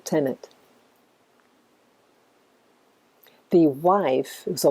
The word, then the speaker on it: Tenet: So you read it forward or backwards, it's pronounced the same way, Tenet.